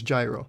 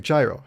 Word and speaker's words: gyro: how to say it he's like it's gyro i was like jairo he was like yeah i was like okay